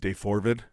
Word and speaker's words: Daybell: The pronounced Daybell. Okay. Daybell.